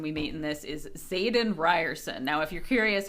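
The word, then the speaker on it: Xaden: most important person we meet in this is Zaden Ryerson now if you're curious how that's spelled it's x a d e n in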